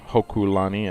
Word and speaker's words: Hokulani: is but there's some trainers here on Mount Hokulani and I'm glad he said it right now